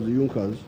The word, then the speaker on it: Junkers: known as the junckers it's written in junkers but it's pronounced as yunkas in the german kingdom